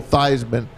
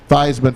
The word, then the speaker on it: Theismann: You know they changed it to rhyme with the Heisman? Yeah. That's why they changed Joe Thiesman's name to Joe Theismann. That's because a- they wanted to rhyme it Theismann for Heisman.